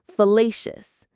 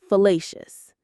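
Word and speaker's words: fallacious: It has three syllables. Facious. Fellacious. The stress here is on the middle syllable. Le facelious. Let's say it a couple of times. Fellacious.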